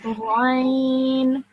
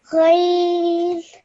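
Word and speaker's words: غين: This is Rain. Ghain.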